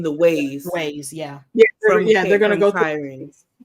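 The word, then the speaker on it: Cairhien: same exact place as I said that name wrong, not Karain. What is the name of? By the end of Kyrene, Kyrene.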